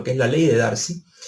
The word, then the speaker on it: Darcy: la ley de Darcy, realmente es Darcy que se pronuncia, el francés, pero luego del planteamiento